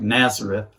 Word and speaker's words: Nazareth: of Ernesto Naza dating spelled like Nazareth but pronounced nasally and Nazare I was